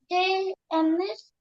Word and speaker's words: des amis: Des amis, we pronounce Z because we have a liaison. Vowel after silent consonant. Des amis, des enfants, but des livres. here we don't have any vowel.